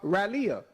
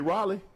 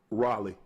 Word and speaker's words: Raleigh: You mean Raleigh? Raleia. Oh, okay. That's how you say it. How you say it again? Raleigh. You for real? Yeah. But it's spelled R A L E I G H.